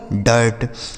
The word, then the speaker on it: dirt: DIRT यह लिखा गया है दोस्तों डर्ट, DIRT डर्ट।